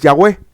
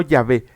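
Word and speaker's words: Yahweh: que no lo mencionan la pronunciación más cercana que se podría decir de este nombre en hebreo es yahwe ajá yahwe No yahvé yahwe pero mañana se los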